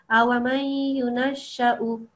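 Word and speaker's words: أَوَمَن يُنَشَّأُ: So no prolongation of this because the waw is only there to be kind of like a chair for the hamza to sit on. It doesn't act as a waw of elongation. So the hamza, it's just giving the hamza a place to sit basically, but the waw does, it's just to be ignored. So it's just the hamza.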